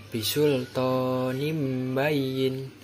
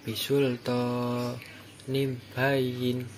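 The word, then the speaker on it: بِسُلْطَانٍ بَيِّنٍ: Yang cara membacanya yaitu bisultonim bayin. Itu tadi cara membaca yang benar, bukan bisultonim bayin, bukan, itu salah.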